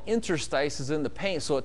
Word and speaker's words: interstices: And it's kind of a hard word to find in the dictionary unless you know how it's pronounced, but there's a I-N-T-E-R-S-T-I-C-E-S, interstices.